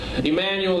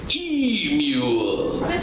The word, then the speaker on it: Emmanuel: that was nice uh Emanuel that's got four syllables it usually confuses most